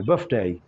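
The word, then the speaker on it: birthday: आपने कहना बर्थडे, यानी कि TH को F प्रोनाउंस करते हुए, बर्थडे।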